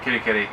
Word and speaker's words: Kerikeri: Yeah, Kitty, if you want to say it properly.